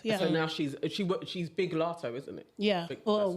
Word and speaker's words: Latto: It's Ice Spice and Latto this time. Did I say it right? Latto. No. Is it Latto? Lotto. Lotto. You say it's Latto. Lotto. Lotto. See, I would say Latto. As in mulatto.